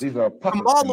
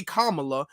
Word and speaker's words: Kamala: her name you know for the last four years Kamala was fine and now all of a sudden you have to say Kamala you have to say it like that or else you're being